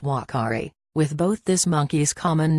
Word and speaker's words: uakari: color and location the name Akari is actually pronounced Whakaari with both this monkey's common name and its